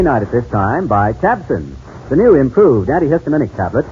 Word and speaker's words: Tabcin: But have you heard about Tabson? That's spelled Tabcin.